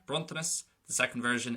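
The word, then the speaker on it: bronntanas: Well, in the first version, the S is going to be sharp, bruntanis.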